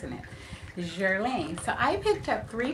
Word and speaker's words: Guerlain: say this that the other she says it's Jeran Lane so that's how I'm pronounce in it jerine so I picked up three products from them